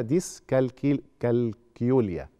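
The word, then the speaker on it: ديسكالكيوليا: صعوبات الحساب ودي اسمها ديسكل كالكيوليا هي هتتنطق كده مش زي الكالكيوليتر يعني تمام دي يعني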